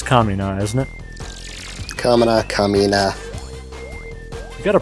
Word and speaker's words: Kamina: Kamina. You gotta pronounce things right.